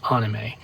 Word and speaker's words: anime: correct way to pronounce anime is actually anime if you want to pronounce it the way they pronounce it in Japan anime and that's short